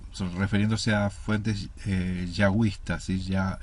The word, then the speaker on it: yahwista: Es utilizado por una de las fuentes documentales de Génesis, entre paréntesis J, refiriéndose a fuentes yahwistas, ¿sí? Yahwista. La J se pronuncia como Y en inglés.